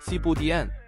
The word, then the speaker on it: Thiéboudienne: 民料理是 Sibudien，發音大概像貼布煎，它其實就